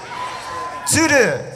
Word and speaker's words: Tsuru: I want to spell it out real quick. Are y'all cool learning a little Japanese? Tsuru, T-S-U-R-U.